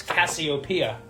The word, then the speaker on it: Cassiopeia: had to write this name down, because it's Cassiopeia. Cassiopeia. A very literary name. Very, very old school. Awesome name. Cassiopeia. 5 syllable, too.